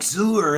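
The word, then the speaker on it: Xur: and everything and xuer he's like sewer and look at him from the stars or oh yeah sewer rhymes with sewer as I said earlier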